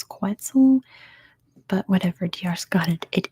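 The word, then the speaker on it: quetzal: is a quel or I think in English it's katel and in Spanish it's quel but whatever di got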